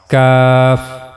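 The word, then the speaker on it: ك: Just one difference here that cough we are making the bold sound. While reading this letter cough and while reading this letter we are making a light sound cuff.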